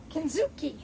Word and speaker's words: Kintsugi: Kuki, that's how you say it.